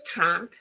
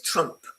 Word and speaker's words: Trump: There's a difference in pronunciation. One is a tramp, tramp, and the other one is Trump. Trump as in cup, and tramp as in a cat. Okay, same difference. Cat and cut.